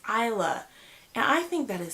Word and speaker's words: Isla: like I think for a while I was pronouncing it iyslah or something like that and it's Isla and I think that is so pretty like